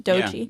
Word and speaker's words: Doechii: a little bit harder on this one, but Doechii. The first one that came to mind, Doechii. Yeah, is that how you say her name? Doechii.